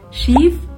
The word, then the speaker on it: Schief: Kalau kamu perhatiin, cara baca schief itu sedikit lebih panjang daripada kalimat kedua yang diucapin schiff. Kedengarannya lebih cepat kan? Sedangkan kalimat yang pertama tuh kayak panjang.